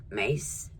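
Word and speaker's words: Myss: Is it Mace? Spelled M-Y-S-S, but I think it's pronounced Mace.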